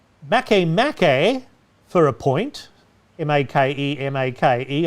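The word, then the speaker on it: Makemake: makkai for a point m-a-k-e-m-a-k-e i assume it's pronounced makamaki rather than make make and pluto and pluto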